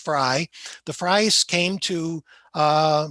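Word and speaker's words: Frey: the fry house now this is f r e y it's pronounced fry the fries came to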